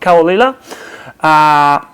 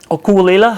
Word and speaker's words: Caol Ila: editions today we're going to be talking about kawalila okulila has properly pronounced this one has been double mature for